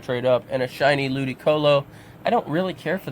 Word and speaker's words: Ludicolo: It's Ludicolo. And then we got Seedot, Nuzleaf, and Shiftry. And I have a shiny Shiftry on Pokemon Ultra Moon, which I'm going to trade up, and a shiny Ludicolo.